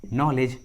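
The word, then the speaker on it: knowledge: के का आवाज़ नहीं आ रहा है, के साइलेंट है। Knife and नो। उसी तरह नी, नॉलेज, नॉक, नी, नॉलेज, नॉक।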